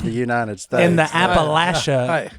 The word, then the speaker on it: Appalachia: football game I said sir that's Appalachia it's it's commonly mispronounced you're not alone okay does that run